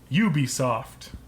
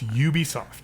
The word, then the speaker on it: Ubisoft: remember this now because their full name is ubiquitous software uh shortened it to you you ubiquitous okay software so it's Ubisoft it's Ubisoft yes people that say Ubisoft just we're pronouncing it wrong because nobody explained where the name originally came from I see and